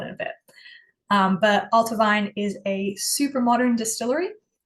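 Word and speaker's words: Allt-a-Bhainne: most excited about so this is pronounced ultavine the BH is a v sound um I think it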